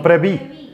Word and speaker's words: preví: No preveí. O previste. No, ¿cómo digo? No preveí. No, sí, no preveí. No preví.